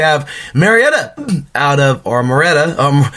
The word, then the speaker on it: Murrieta: to 5 we have Marietta out of our Murrieta um Murrieta we have Mariette over here in California too